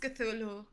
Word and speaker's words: Cthulhu: It's pronounced Cthulhu.